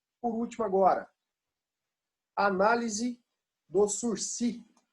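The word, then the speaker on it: sursis: último agora, análise do sursi. O que é o sursi? Aqui, ó. Sursi. Esse S aqui a gente não pronuncia, não.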